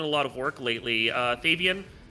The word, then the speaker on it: Thavian: Thavian Hawk, thank you. Thavian. Okay, that's. I've heard it pronounced once or twice, and my brain is just like, so.